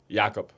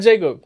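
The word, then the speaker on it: Jakob: it was was uh how you say it Jacob yakob yakob perto oh yakob yob not Jacob no yakob yakob Perle yakob Perle I'm sorry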